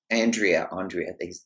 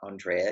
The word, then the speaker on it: Andrea: And I mean, well, Andrea, they pronounce her name. We always say Andrea, but I mean, I guess Andrea is how they pronounce it.